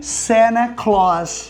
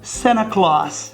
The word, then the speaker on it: Santa: Mas é claro, como eu já falei em vídeos anteriores, americanos não pronunciam o T. E por que que ele não pronuncia o T? Porque antes tem um N.